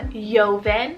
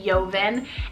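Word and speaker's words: Jovan: boy names we have yeovin with that j goes into a y yeovin and zorin said o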